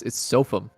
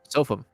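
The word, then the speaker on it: SofM: I've never seen anyone pronounce his name SFM. It's Sofum. Nope. Sofa? Sophum. It's S of M, style of mind. No, but like every player pronounces his name Sophum.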